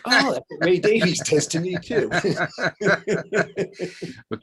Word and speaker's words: Davies: Ray Davies is, or as he pronounces it, I think Davis. At least that's what I've been told.